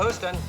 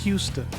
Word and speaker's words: Houston: In the U.S., everywhere except New York City calls this Houston. In New York City, there's a street spelled the same way, and they call it Houston.